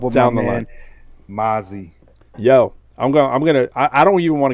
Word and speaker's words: Mazi: And I was like, oh, it's Mazi. All right, first of all, I gotta get the pronunciation right.